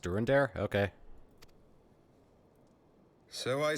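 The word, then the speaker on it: Durendaire: there must be another way to convince houses dorinder and zamail it's hell it's pronounced during their okay so i said to him alas he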